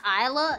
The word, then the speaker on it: Isla: It's pronounced Isla. Yes, it's not Isla. It's not Isla. It's Isla.